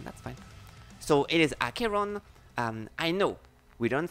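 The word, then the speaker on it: Acheron: archeron in case you were wondering archeon is pronounced akiron okay what was what what I was saying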